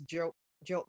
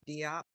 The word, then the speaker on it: Diop: It's Jope means. Okay. Jope is a West African name. And my ex-husband went along with the way that the Americans pronounced it because he didn't think that they could. So he would try to say it and then they would say it Diop. And so he went with it.